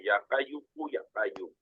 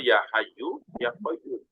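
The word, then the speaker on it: يا حي يا قيوم: enggak tahu bahasa Arab kemudian bacanya Ya qayuku ya qayum ya qayuku ya padahal ya Hayyu ya Qayyum ya Hayyu Wahai yang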